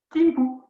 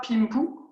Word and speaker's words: Dingpu: Maintenant, vous allez me faire la position Timpu. Bien, comme ça, je vois qui connaît ces positions. Alors, pas Pimpu, Timpu. Ça s'écrit Dingpu, mais ça se prononce Timpu.